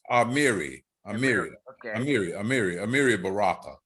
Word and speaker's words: Amiri: by it amiri and it's pronounced amiri amir amiri amir amiri